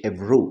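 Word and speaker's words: Évreux: 1332 সালে কোথায় না এভ্রু উচ্চারণটা হচ্ছে এভ্রু ইন ফ্রান্স ফ্রান্স হচ্ছে একটা ইউরোপের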